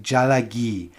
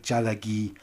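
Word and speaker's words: ᏣᎳᎩ: Actually, it's pronounced something like jalagi, and it means Cherokee in the Cherokee language. I'm probably getting the tones wrong, but it's something like jalagi.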